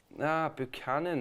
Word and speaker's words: Buchanan: Buchanan, that's how you say it.